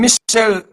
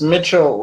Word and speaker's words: Mitchell: Is the name Michelle, or how do you pronounce the last name? Sure. It's Mitchell.